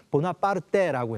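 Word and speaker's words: Bonaparte: 중간에 있었던 그 태어났고요 이름도 나폴레옹 보나파르트라는 그의 성을 프랑스식으로 반환하는데 이태리에서는 보나 빠르떼라고 해서 이탈리아어로 발음하게 됩니다 결코 프랑스 혁명이 없었다면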